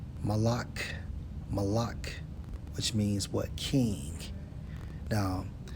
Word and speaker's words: Molech: Molech in the Hebrew, Strong's H 4432, pronounced as Malak, which means what?